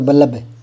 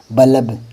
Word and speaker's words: बल्ब: अगर पूरा होता है ना तो उसका उच्चारण अलग ही होता है। फिर पता चल जाता है कि मैं गलत बोल रहा हूं। जैसे इसको बोलोगे तो बल्लब। जैसे तलब। हां, तलब तो होता है, लेकिन बल्ब थोड़ी होता है, बल्ब होता है।